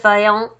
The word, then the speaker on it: Vaillant: very close friend, Joseph Vaillant. They're both French, which is why I am trying my best to sound Frenchy when I pronounce their names.